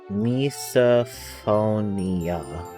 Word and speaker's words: misophonia: Misophonia pronunciation. Misophonia.